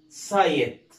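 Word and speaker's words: site: تقراوا كده حاول معايا، قلنا حرف الاي هيتنطق زي ما هو اي، يعني اقول له اي، يعني اقول ساي ما اقولش سي، اقول ايه؟ ساي، يبقى اسمها سايت. وطبعا حرف الاي في اخر الكلمه سايلنت ما يتنطقش، تمام؟ يبقى اسمها ايه؟ سايت.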